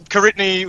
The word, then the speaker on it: Koritni: me mispronouncing my name so yeah so karitny stage stage name look at that phonetic spelling nobody can [ __